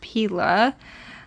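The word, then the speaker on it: Pela: These are from Pila Case, or Pella Case. I'm pretty sure it's pronounced Pila.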